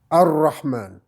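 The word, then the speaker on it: الرحمن: Et vous avez vu aussi que quand on a le al et le ra qui vient, le on n'entend pas. Ar-Rahman, Ar-Rahim, Ar-Rahman, Ar-Rahim.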